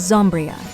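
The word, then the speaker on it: Zombyra: cards like the Booty Goblins, Axe Raider, and Zombira. Zombria? I'm not sure what it is. The correct pronunciation is Zombria.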